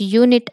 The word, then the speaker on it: unit: We pronounce unit as u, unit. So this y is a consonant, so it's give the consonant y sound.